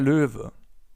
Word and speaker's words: Löwe: So for now, it's just important that the animal is pronounced Löwe.